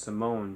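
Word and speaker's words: S1m0ne: it a strange movie it's I think it's pronounced Simone but it's spelled s1m a no with like a line through it and then n E and that's without Pacino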